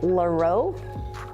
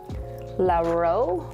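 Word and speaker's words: Llarowe: This is Colors by Laro. Laro, which is spelt L-L-A-R-O-W-E.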